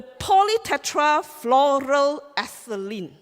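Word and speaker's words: polytetrafluoroethylene: first I'm go back go it yeah the poly Tetra floral aceline right you can call it poly tectra floral aceline that's how you pronounced our the make of our membrane the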